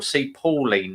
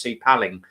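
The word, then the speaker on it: Sea Palling: up to a place called sea paling or see Pauline they call it but it's actually pronounced C paling um it's about oh God five miles up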